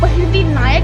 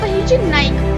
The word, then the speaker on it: बहिर्जी नाइक: कुछ लोग बहिर्जी नायक प्रोनाउंस करते हैं तो कुछ लोग बहिर्जी नायक प्रोनाउंस करते हैं, जबकि ये है बहिर्जी नाइक।